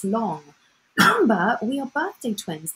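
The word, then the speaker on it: 龙: the or the long the Chinese dragon pronounced long remember we are Birthday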